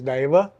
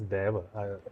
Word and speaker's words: Daiva: everyone has pronounced it as Deva, Dev. Okay. So it is Daiva, and thank you for pronouncing it correctly.